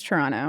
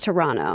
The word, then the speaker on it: Toronto: was told that you are not supposed to pronounce the second T in Toronto. Is that true? That's true. It's Toronto. It's Toronto. Yeah, it's Toronto.